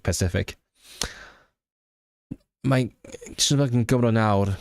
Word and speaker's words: Pacific: But I just thought like the name made me like feel right at home because of Cathay Pacific, not specific, Pacific.